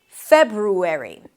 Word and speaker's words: February: You close your lips for a B, feb, then ru, an R sound and a tense U, febru, and then airy, like the ending of January.